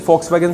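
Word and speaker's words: Volkswagen: फॉक्स, वैसे वॉक्स बोलता है, ये वी से बनाया, लेकिन इसका प्रोनाउंसिएशन फॉक्सवैगन से आएगा, गाड़ी होती है, ठीक है।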